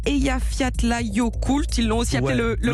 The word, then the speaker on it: Eyjafjallajökull: Ils ont surtout regardé TF1 avec le film, alors accrochez-vous, je vais essayer de bien le prononcer, Eyjafjallajökull.